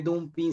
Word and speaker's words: dumping: Se escribe dumping, se pronuncia dumping.